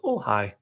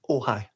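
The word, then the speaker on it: Ojai: Uh, O J A I I am going to visit Ohhigh and spend a night in Ohhigh.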